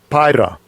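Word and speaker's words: πεῖρα: And from there, we're going to go to the root of that, which is, how do you pronounce that? Peria? Strong's G 3984. Pyra.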